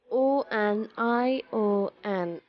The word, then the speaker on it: onion: A lot of people understand it with the sound O in the beginning. It's not onion. It is US sound from the beginning. Onion.